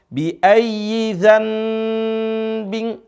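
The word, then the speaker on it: بِأَيِّ ذَنْبٍ: Jadi cara bacanya seharusnya bi ayyi dzambin, tapi jadi m.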